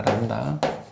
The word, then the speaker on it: 람다: 이 문자의 이름은 람다입니다. 람다. B가 묵음이에요.